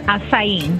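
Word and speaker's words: açaí: town you mean Oba yeah so what is a Kai anyways it's actually pronounced Asim and it's the world's number one Superfruit and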